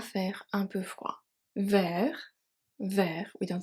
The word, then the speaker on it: froid: À faire un peu froid. Faire, we don't say faire, faire. Un peu froid, the D is silent.